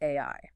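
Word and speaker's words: 愛: The author takes those values and introduces the Japanese word for love, which is pronounced AI.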